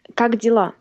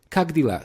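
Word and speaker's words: как дела: you uh well uh in Russian you say kagdila kagdila so I just have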